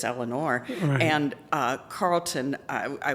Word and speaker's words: Eleanor: to mispronounce my name evidently from the east coast they say Elellanar which drives me nuts but it's Eleanor and uh Carlton I